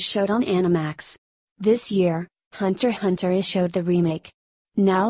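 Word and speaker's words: Hunter × Hunter: show I'm recommending is Hunter Hunter the letter x is silent they are two types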